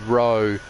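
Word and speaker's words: Rho: There's a different tech priest called Ro, spelled with an R-H-O in there.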